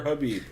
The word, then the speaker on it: Khabib: just put up with Habib Nurmagomedov is probably goddamn hilarious because Khabib's is it Khabib or Habib? It's Habib. I always say it with a K because so does everyone else.